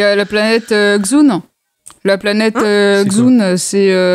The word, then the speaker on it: Dxun: Quelle planète est-ce que tu parles La planète Xun, ça s'écrit DXUN.